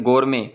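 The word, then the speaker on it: gourmet: इसी तरह वो जो कोल्ड ड्रिंक होती है गोरमे, एक कंपनी है गोरमे, तो उसमें भी टी साइलेंट आप पढ़ते हैं।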